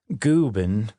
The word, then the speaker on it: Guben: Guben rhymes with Reuben is actually Swedish for old man, but kind of like you'd call a little kid big guy.